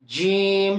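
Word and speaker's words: جيم: এই হরফটা উচ্চারণ করার সময় জিহ্বার মাঝখানটা উপরে তালুর সঙ্গে মিলে যাবে, জিহ্বার মাঝখানটা উপরে তালুর সঙ্গে মিলান। জিম, শক্ত করে, জিম জিম জিম জিম জিম, শক্ত, জিম।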